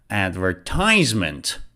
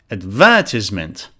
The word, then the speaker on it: advertisement: different here you see for the UK pronunciation the stress is before the it's before the second syllable so it's advertisement so as you can see the British pronunciation is advertisement and the American one is advertisement so they are different